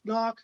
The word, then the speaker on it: Gnauck: I pronounced the G out of respect. Ralph Gnauck has been developing ROS robots for fun and profit for almost 10 years.